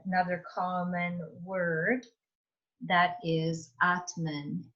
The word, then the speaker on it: atman: in this word here it's a long a the t and the m are joining together and that n doesn't have an a on the end atman so this is